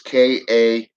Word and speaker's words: Kalunga: Some of these words are hard to pronounce, but it's the first word is Nfinda. Second word is Kalunga.